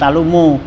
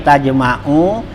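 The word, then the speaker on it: تجمع: Nah wapi syarhi sipa, di dalam kitab syarah sipa itu artinya tajma'u, jadi bukan talumu ya, bacanya tajma'u biha tuparriku khatiri, artinya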